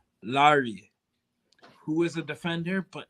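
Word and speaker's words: Laryea: fc we also have richie lyra but actually pronounce larry who is a defender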